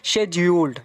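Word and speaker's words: schedule: शब्द उसे हुआ है शेड्यूल इसको अलग-अलग तरीके से प्रोनाउंस करते हैं ब्रिटिश में हम इसे कहते हैं शेड ओल्ड शेड्स ओल्ड यहां पर हम इसे पढ़ने हैं इंडिया में शेड्यूल उसके और भी प्रेगनेंसी है जैसे की अमेरिकन में अलग है तो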